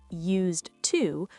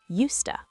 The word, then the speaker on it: used to: Pronunciation tip, we don't say used to, we say used to. Used to? Sounds like a rooster. Cock-a-doodle-doo, I used to wake up early. Yes, the D is silent because it blends with the T.